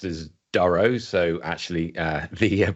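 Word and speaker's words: Durow: uh yeah my name is Duro commonly pronounced as Duro so actually uh the pronunciation of names would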